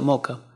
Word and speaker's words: Mocha: mucho pero un área se pronuncia moca es uno de los